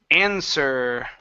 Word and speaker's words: answer: we have the words answer right here the W is silent so instead of ends were it's answer answer good the answer to